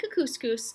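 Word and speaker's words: Kookooskoos: camp anyway welcome to camp cuckoos it rhymes with moose that's another good thing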